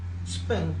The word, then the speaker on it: Sprung: Sprung, porque así se pronuncia en alemán.